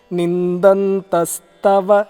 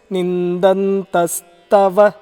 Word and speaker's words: निन्दन्तस्तव: it is nindantastava. It is not thava. It is nindantastava निन्दन्तस्तव सामर्थ्यम् सामर्थ्यम्।